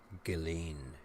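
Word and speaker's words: Ghislaine: saying her name wrong it's not just lane it's galen hey my name is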